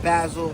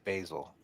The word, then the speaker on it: Basel: He's making one of the one-on-ones for Art Basel. Creating right here. Yeah, Art Basel. My bad, Basel. I keep saying Basil. Basel. You got to say it right.